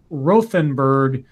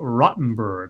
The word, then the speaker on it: Rothenburg: okay also it's not rothenburg it's pronounced closer to Rotenberg well I appreciate the